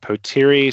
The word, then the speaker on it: Potere: Um let let's get the name of it pronounced correctly. Yeah. Potiri Search is the name that we pronounce it.